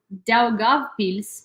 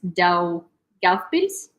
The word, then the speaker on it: Daugavpils: Mayor of Daugavpils, the second largest city in Latvia.